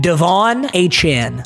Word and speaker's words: Devon Achane: And by the way, if you've got a problem with my Devon Achane pronunciation, you, unfortunately, are a casual. I have done extensive research. His name is pronounced Devon Achane.